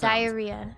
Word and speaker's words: diarrhea: There's four syllables and there are two hidden Y's in this word. Diaria. So you go up on the third syllable re. Okay. And there's a hidden Y vowel sounds.